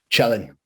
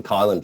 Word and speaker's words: Cielen: And how do you pronounce your last name? Cielen. Cielen. Oh, well, that's easy. I was going for Kylan for some reason.